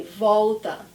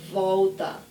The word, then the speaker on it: volta: Volta sing with me Volta so this time the L is not at the end of the word it's at the end of the first syllable Volta but it's the same thing I don't wanna laugh